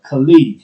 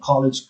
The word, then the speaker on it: colleague: part pronunciation all right colleague not college colleague and colleagues watch out for dessert